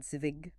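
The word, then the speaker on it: -zig: For the tens, add zvig, but pronounce it ik.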